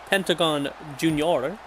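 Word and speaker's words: Pentagon Jr.: the rock but from Pentagon junor that's how you say it in Spanish uh yeah and that's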